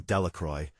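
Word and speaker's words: Delacroix: Bobby and Harry Jones and Dicky Delroy, the villagers pronounced this name Delroy, eventually made a great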